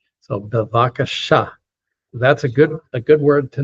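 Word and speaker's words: בבקשה: Most Hebrew words, not all of them, but most of them get accented on the last syllable. So bevakasha.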